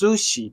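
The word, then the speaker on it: 寿司: So in English, when we say, oh, we eat sushi, so it's sushi, but in Japanese, it's not really, it's sushi, it's a sushi.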